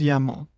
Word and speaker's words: YAML: The YML extension is usually pronounced as YAML.